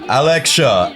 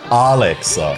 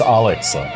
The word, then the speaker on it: Alexa: And we have Alexia and Alex. Hello. Is that the correct pronunciation? Yeah, is that Should it? be, is it? It's Alexa.